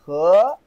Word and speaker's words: 河: Regular river is called He. He. Like hello. Yeah, this is the H. Hello. He. This is the second tone, right? He. He.